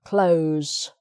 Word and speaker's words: close: the door okay but if you're using this word as an adjective or an adverb you say close sitting close to the window okay and also as a noun the close the little street outside close with an s okay so um